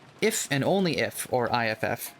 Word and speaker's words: iff: It's pronounced if. I do just say if, because it's just so much easier.